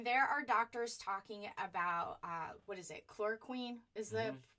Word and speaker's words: chloroquine: When there are doctors talking about, chloroquine is the pronunciation of that, intravenous vitamin C.